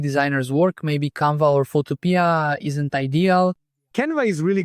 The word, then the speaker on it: Photopea: Photopea, it's Photopea, I think that's how you say it, Photopea. It's free. Photopea, that's right.